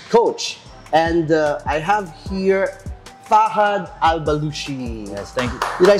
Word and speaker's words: Fahad Al-Bloushi: And I have here Fahad Al-Bloushi.